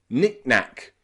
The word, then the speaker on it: knickknack: the middle becomes reduced it's not nicknack it's nicknack knickknack knickknack we put a little glottal stop in the middle Nick nicknack knickknack okay